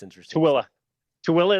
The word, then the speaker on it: Tooele: Tooele is how you say it, and it's not spelled anything like that at all.